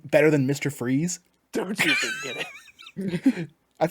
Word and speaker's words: Fries: It's pronounced Or- freeze though.